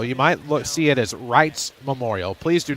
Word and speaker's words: Reitz: The Zamboni over third base, but it's pronounced Wrights, a long I with that EI sound there in the middle.